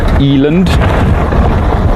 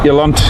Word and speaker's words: Eland: you might pronounce it Eland I pronounce it elant CU of course that's how we say it here in South Africa uh that is the